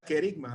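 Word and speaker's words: kerygma: decir la palabra griega hay una palabra en griego que se pronuncia kerigma la palabra carisma el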